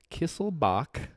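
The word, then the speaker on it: Kiesselbach: Kisslebach. Like Bach, like the musician Bach.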